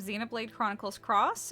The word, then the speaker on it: Xenoblade Chronicles X: everyone, it's Bloom here, and welcome to my Let's Play of Xenoblade Chronicles X, and yes, that is how it's pronounced.